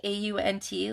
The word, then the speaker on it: aunt: it's just Minnesota, but they pronounce aunt like A-U-N-T, like your auntie, aunt.